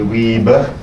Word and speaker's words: Wiebe: English people seem to have a big problem pronouncing my name. I'll listen to Wiebe. If you want to pronounce it correctly, you say Wiebe.